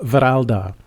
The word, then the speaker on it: Wralda: The first variant of the A is pronounced A, and according to the way that I interpret the alphabet. So, Wralda.